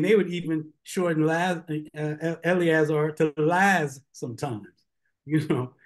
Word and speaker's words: Eleazar: Hebrew so for instance the priest named Eleazar they pronounced it as Lazarus Lazarus so when you see Lazarus that is the Galilean slurring of of of a of proper Hebrew proper Aramaic I mean they